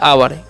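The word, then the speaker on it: hour: यू है तो इसे पता है आवर यहां पर एच जो है साइलेंट होता है ठीक है तो आवर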